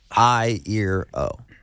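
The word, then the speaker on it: Iero: That's how you pronounce it though. I, ear, O.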